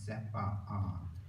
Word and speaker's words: CEPA: they make a point, even though normally you might say CEPA, they like to pronounce both the A's. They say no, it's CEPA.